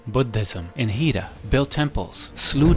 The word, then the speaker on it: Buddhism: It was mentioned that he introduced Buddhism, or in the proper pronunciation, Buddhism, in Hida, built temples, slew demons by the way, and even dragons.